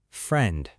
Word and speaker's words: friend: Friend. F r i e n d. The ei friend sounds like a short e sound.